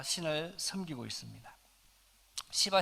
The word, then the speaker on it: 시바: 인도의 힌두 들은 아 시바 신 이라고 하는 신어 섬깁니다 발음을 조심해야 됩니다 잘못하면 욕 처럼 될 수 있기 때문에 시바 신을 생기는데 이